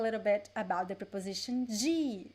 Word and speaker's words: de: people would say d but the most common pronunciation is g g okay this is the most common one so g is neutral as every preposition is neutral but